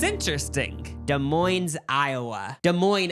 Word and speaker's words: Des Moines: Des Moines, Iowa. The S is silent.